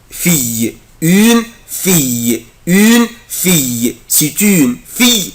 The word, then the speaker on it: fille: اخلي بالي من السلاب ده يا اولاد الاي ال او بنطقها اي fille une fille c'est une fille يعني انها بنت.